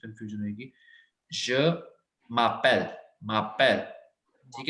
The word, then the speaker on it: je m'appelle: अलग अलग नहीं है, ये एक साथ से वर्ड्स हैं। मतलब म को मर्ज करना आपने एक के साथ, क्योंकि हमने यहाँ पे ई कट करा है।